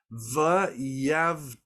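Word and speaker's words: וַיַּבְדֵּל: So the word is pronounced v'yavdale.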